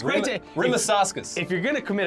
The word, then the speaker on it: Rimašauskas: Now, uh, okay, to be clear, Ramasos, Ramasos, it's great to... Rimasauskas.